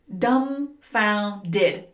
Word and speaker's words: dumbfounded: Notice that the B is silent. Dumbfounded.